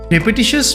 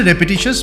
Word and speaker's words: repetitious: রেপিটিশাস বা রেপিটিটিভ ওয়ার্ডটা কিন্তু এসেছে রিপিট থেকে, সঠিক উচ্চারণ হচ্ছে রেপিটিশাস বা রেপিটিটিভ, রিপিটিশাস নয় বা রিপিটিটিভ নয়।